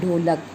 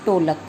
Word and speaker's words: ढोलक: शुद्ध उच्चारण जो होता है वो होता है ढोलक और अशुद्ध उच्चारण इसका कर देते हैं टोलक।